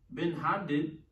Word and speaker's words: Ben-Hadad: And it came to pass after that, Ben-Hadad, king, did I say it right? Ben-Hadad.